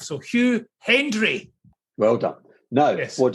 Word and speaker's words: Hendry: He thinks I don't mention the D in his name enough. So Hugh Hendry.